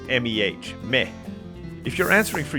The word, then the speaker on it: me: use the word me spelled like the spanish m e but pronounced like meh me if you're answering